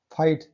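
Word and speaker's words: fight: फाइट, जी H silent है।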